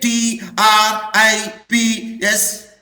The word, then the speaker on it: TRIPS: it is acronym Professor it is an acronym because we pronounce as a one word can you say t r i p s no I did not